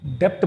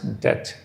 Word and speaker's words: debt: इस वर्ड को बहुत सारे स्टूडेंट्स डेप्थ प्रोनाउंस करते हैं, which is wrong. यहाँ पर बी साइलेंट होगा, तो it has to be spoken as debt.